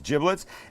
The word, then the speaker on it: giblets: the bag of giblets and that's how it's pronounced not giblets it's giblets and in here would be liver would be